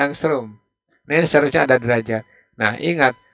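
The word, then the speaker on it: ångström: gelombang ngasih lamda lamda itu disitu 6600mah angklung bacanya angstrum misalnya ada derajat nah ingat satu angstrum itu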